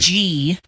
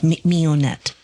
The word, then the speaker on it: Mignonette: Oh, so it's spelled weird. Mignonette. Oh, yeah. Oh, Mignonette.